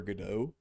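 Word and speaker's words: Godot: GDO is pronounced like that. Always say God. I understand where you're saying from, but uh the word GDO. I know a guy who used to pronounce like that, but the thing is GDAU comes from the I believe play called Waiting for GDAU. And that's how you're supposed to pronounce it.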